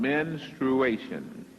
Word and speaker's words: menstruation: It is based on menstruation. Menstruation. Many times it is pronounced menstruation. That is not correct. But one thing is, it starts with men. Menstruation.